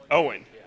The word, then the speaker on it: Eoin: pronounce your name uh Owen Owen so the the E is silent okay all right and